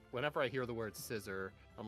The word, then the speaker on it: Scizor: really confused by uh I always wonder why you call Scizor scissor like a pair of scissors it just what it's based on I don't know whenever I hear the word scissor I'm like who's he